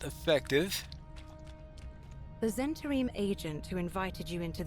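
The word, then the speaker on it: Zhentarim: Okay, Zentarim. In other words, the H is silent there. Either that or slight aspiration, or who knows?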